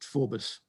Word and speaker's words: Forbes: the early 19th century it was always pronounced forbus with the emphasis on the first syllable okay that's what we